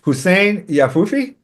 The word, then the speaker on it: Hussein Yahfoufi: His name is Hussein Yahfoufi.